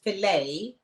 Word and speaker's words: fillet: And the proof of that is this guy tried to fight me about the fact that the word fillet, you don't pronounce the T.